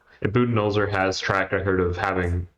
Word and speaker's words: Budenholzer: It's Budenholzer. I think it is Buden, yeah.